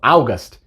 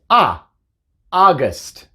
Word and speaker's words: August: pronuncia en inglés simplemente se dice a la ues muda y la tiene el sonido corto y entonces no se dice augas para agosto nos ahoga es muchos dicen eso augas no es august simplemente es a guest otros ejemplos son oms